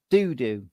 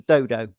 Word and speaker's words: Dodo: I gather Pixel Games like it pronounced donut doo-doo as opposed to dodo as I would pronounce it.